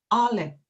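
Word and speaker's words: אלף: 이 알렙이라는 글자는 이제 음가가 굉장히 약해서 묵음이 되는 경우가 많고요. 그리고 히브리어 특징, 세머의 특징 중 하나인 그 후음 문자이기 때문에 목구멍 깊은 곳에서 나는 하는 막혔다 터지는 소리라고 보통 말합니다.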